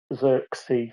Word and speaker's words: Zirksy: So if you're not subscribed to him, he's Zirksy, so ZIRKSEE.